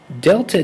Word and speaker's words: Delta: that c is the abbreviation for specific heat delta T that's all one thing don't think of